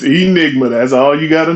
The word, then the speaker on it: E. Nigma: It's Enigma.